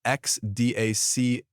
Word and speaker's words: XDAX: South Korea, including institutional move Ripple and XDAX, pronounced XDAC.